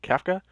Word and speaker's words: Kafka: friends caf kafka that's happened that's how you pronounce it kafka friends kafka oh there's load times there we